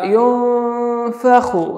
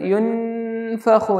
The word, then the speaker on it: ينفخ: മണിക്കുമ്പോൾ നന്നായി ശ്രദ്ധിക്കുക, യോ ഫഹു എന്നാണ് മണിക്കേണ്ടത്, യുൻഫഹു എന്നല്ല, മറച്ചുകൊണ്ട് മണിക്കണം. നൂനിൻ്റെ ഉച്ചാരണത്തെ, നൂനിനെ മറച്ച് കുറച്ച് മണിക്കുക.